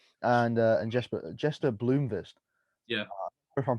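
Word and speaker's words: Blomqvist: uh and jesper jester bloomfist yeah if i'm pronouncing that that correctly there's a q in there so i think it's bloomberg i think the queue is silent some of the swedish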